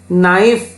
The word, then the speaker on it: knife: Next one silent K, knife, knee, knock, knowledge.